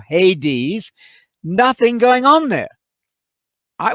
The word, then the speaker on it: Hades: go the grave otherwise known in greek as adis that's the modern greek pronunciation or hades nothing going on there